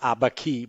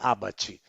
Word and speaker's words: Abaci: I still pronounce it as an Italian. Maybe it's Liber Abaci, but we say Abaci.